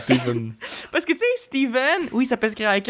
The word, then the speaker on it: Stephen: Ça se prononce V, mais c'est un PH, OK?